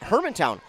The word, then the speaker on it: Hermantown: second be behind that's how you say it Hermantown Hermantown yes also in this section so they